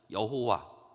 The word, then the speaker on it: 여호와: 뭐 엘샤다이 뭐 또 엘 엘리온 뭐 이런 그 표현들이 있습니다마는 어이 시편 저자는 여호와 어 어떤 분들은 여호와라고 하는 발음보다는 야회라고 하는 발음을 많이 사용을 하는데 여호와든 야회든 같은 말이에요.